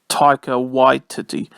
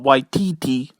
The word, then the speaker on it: Taika Waititi: tiger why titty in this film and it's pronounced taika white titty it's not not white td you know it's white titty all right taika